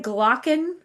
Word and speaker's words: Glaucon: I will be reading, say the name again, Glaucon? Glaucon. Glaucon. I've got a Okay, pronunciation for it.